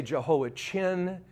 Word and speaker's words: Jehoiachin: Now, in English, they say Jehoiachin.